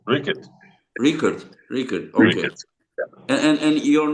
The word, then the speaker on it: Riekerd: Rickards. Yeah, Rickett. Rickard. Rickard. Rickard. Okay. And And your name pronounced Wallace.